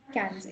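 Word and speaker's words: quinze: ये वाली चीज practice It's quatre cans. Not sank.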